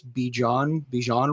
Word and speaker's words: Bijan: How do you pronounce this? Bijan Robinson? Yeah, Dijon Robinson. Bijan Robinson.